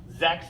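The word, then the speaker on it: sechs: five number six sex sex is the number six the Z at the beginning makes the Z sound the CH makes a kind of a K sound and then the S at the end sex sex number seven last one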